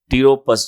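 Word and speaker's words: Pteropus: Genus जो है ये टीरोपस जो है हमारा, पी साइलेंट होता है टीरोपस, तो ये उससे बिलोंग करता है।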